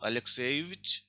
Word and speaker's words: Alexeyevich: For example, Alexei, stress is on ye. So Alexeyevich will be stressed on ye only.